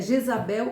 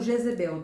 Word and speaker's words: Jezabel: É Jezabel ou Jezebel, tem Isso. diferença de pronúncia.